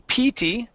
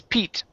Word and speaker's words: Pete: this name here okay the name instead of being PT ok the name is Pete only Pete Pete Pete uh-huh there you go